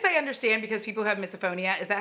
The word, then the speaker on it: misophonia: okay so this i understand because people have misophonia is that how you say did i finally